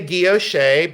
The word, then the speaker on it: guilloche: I say guilloche, but that's the way I pronounce. Some people say guilloche. Some people say guilloche, and some people say guilloche. I say guilloche enamel.